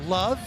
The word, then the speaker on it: LOVB: League one volleyball yes it's lovb but it's pronounced love mission statement to create better life outcomes for